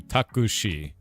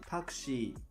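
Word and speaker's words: タクシー: Takushi. So you guys do with us we do taxi as two syllables. You do takushi and she's uh she has like a drawn out eye. So it's takushi.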